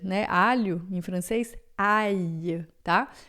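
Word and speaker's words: ail: Ai, né? Alho em francês. Ai, tá? Quando tem o L, o I se separa do A e pronuncia junto com o L, um I prolongado.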